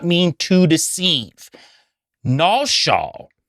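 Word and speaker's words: נשא: Nasha, which is n a s h a h, completely different phonetically and distinct from NASA in the Hebrew, that means to deceive or deception, and you'll find that in Jeremiah 49:16.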